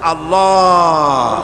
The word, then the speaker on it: আল্লাহ: আল্লাহ পাকের নাম হচ্ছে আল্লাহ মুখটা একটু গোল হয়ে যাবে বলেন আল্লাহ আল্লাহ পৃথিবীতে বিভিন্ন